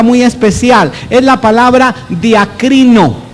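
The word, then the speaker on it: διακρίνω: Es la palabra diacrino, pronuncia en voz alta, diacrino. Aquí en nuestros servicios hasta griego aprendemos, diacrino.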